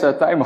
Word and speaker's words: Tijme: My name is Tijme, often mispronounced. It's a Dutch name and people often call me Tijme, but it's actually an I in the Netherlands.